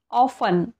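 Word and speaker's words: often: एन आलेला आहे लास्टला तसेच ऑफन याला आपण ऑफन नाही म्हणत ऑफन म्हणतो इथे सुद्धा टी इ एन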